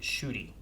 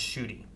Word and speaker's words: Ncuti: The new Doctor's name, Ncuti, is pronounced Shooty. Okay. NCU what? Ncuti. It's pronounced Ncuti.